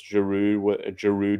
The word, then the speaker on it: Giroud: But yeah, we pronounce Giroud without the D, so Giroud.